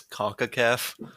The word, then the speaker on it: CONCACAF: Do people actually refer to it as CONCACAF? Yes, that's how it's pronounced.